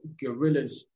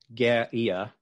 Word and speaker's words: guerrilla: Yeah, I mean, we should say that not everyone who was a guerrilla, for people who aren't familiar, guerrilla, which is I believe the Spanish pronunciation, literally, as you just said, stands for little war.